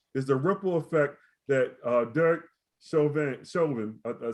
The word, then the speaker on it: Derek Chauvin: And the second topic we're going to talk about is the ripple effect that Derek Chauvin, I said it right, Derek Chauvin's verdict is having on our communities.